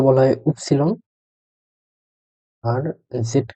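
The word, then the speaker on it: Ypsilon: ওয়াই কে বলা হয় উপসিলন, উপসিলন। জেড কে বলা হয় সেট, জেড এর উচ্চারণ হলো সেট।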